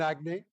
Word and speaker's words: Aggne: In Q4, we took a majority share in Agne. I'll spell it for you.